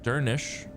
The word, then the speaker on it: Dernisk: Dernisk is pronounced Dernish since the final SC cluster sounds like the SH sound.